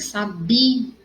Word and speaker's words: sabia: Então, vai ser sabia, a sílaba mais forte vai ser o bi, tá?